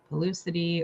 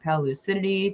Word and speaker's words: Pellucidity: And then we've got Sami Bikeman from Pellucidity or Pellucidity, depending if you want to pronounce it the way the dictionary says, or if you want to pronounce the way that I decided it should be pronounced.